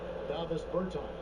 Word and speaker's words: Davis Bertans: Oh, well now, at this point in my life, it's DeVos Bertans. Is that how you say his name? Davis Bertans. Davis Bertans?